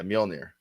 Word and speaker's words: Mjolnir: It's MJ. Right. O with 2 dots on it. Yeah. L-N-I-R. Yeah, Mjolnir. Mjolnir.